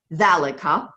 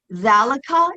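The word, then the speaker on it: ذلك: to remember here is valika and dalaka means that and it's the masculine form okay um valika is pronounced like it has an aleph but it it's not written with the aleph um sometimes it's written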